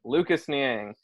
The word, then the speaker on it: Lucas Niang: I almost said his name wrong, so let me Lucas look in Niang, it. right? Lucas Niang, Niang.